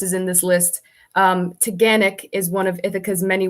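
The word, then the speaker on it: Taughannock: of why this is in this list um teganic is one of ithaca's many waterfalls yeah it's spelt weird i'll put it in the chat but it's pronounced technic nice okay and then as you go i'll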